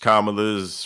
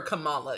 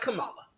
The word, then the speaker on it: Kamala: as if it's hard it is pronounced exactly the way it's spelled so I don't understand why y'all that up in all fairness I watched kamala's first speech just to